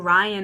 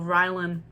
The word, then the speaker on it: Rylan: He keeps saying Ryan instead of Rylan.